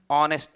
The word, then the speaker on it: honest: Next, second one, illondide, an honest man. Here also the reason, very simple reason, H is silent and it start with the pronunciation of honest.